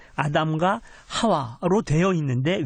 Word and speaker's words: 하와: 발음상의 차이거든요 그니까 원래는 원래 그 히브리 원어로 하면은 이보다는 하와가 맞습니다 예 아담과 하와로 되어 있는데 왜 브라는